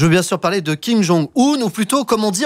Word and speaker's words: Kim Jong-un: Je veux bien sûr parler de Kim Jong-un, ou plutôt, comme on dit en Corée du Nord, Kim Jong-un. Oui. Il faut dire comme ça, comme un gun, le revolver.